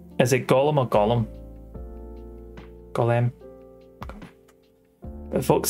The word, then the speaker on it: golem: Golem. But folks say, but a lot of folks say Gollum. It's Gollum instead of Gollum. Golem, yeah. Golem's like the proper pronunciation.